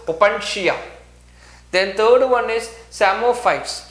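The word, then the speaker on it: psammophytes: Then third one is samophytes. Here P is silent.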